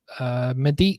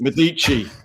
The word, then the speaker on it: Medici: of Tuscany from the 1500s, Medici.